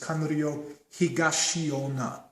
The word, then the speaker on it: Higashionna: Or in the Japanese pronunciation, Yasutsune Itosu, and some pronounce his last name as Kanryo Higashionna.